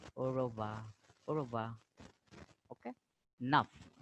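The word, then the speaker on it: neuf: Nuff, F is pronounced here because C, F, L ending are pronounced. So nuff, nuff.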